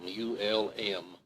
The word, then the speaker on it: Ulm: right north of Ulm, U-L-M, Ulm, I believe the way the Germans pronounce it.